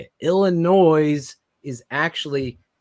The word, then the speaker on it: Illinois: if it was British Illinois there's an S an s what is it put the shovel down bro come on when's the S silent if we're gonna be honest in Illinois it's silent that's when based on